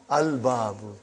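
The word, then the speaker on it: الباب: Moon letter. You did pronounce lam. Al-babu.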